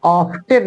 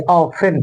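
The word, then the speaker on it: often: को बच्चों ध्यान रखें टी को साइलेंट रखते हैं पढ़ते समय ऑफ्टन नहीं पढ़ेंगे ऑफेन पढ़ेंगे हाउ ऑफेन डिड यू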